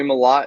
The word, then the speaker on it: Mellott: However you want to pronounce his name. It is Tommy Mellott.